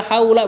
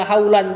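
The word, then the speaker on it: حولَ: La haula, antum bacanya la haula bukan la haulan.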